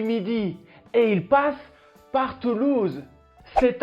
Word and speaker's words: Toulouse: grande ville de france en nombre d'habitants fait toulouse toulouse pas toulouse et non toulouse il y